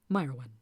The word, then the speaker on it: Mairwen: Pronounced Mairwen.